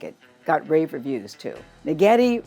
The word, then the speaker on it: Naghedi: Naghedi rhymes with spaghetti.